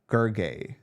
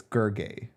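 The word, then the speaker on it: Gergely: Gergay. The L is silent, he said. It's Gergay.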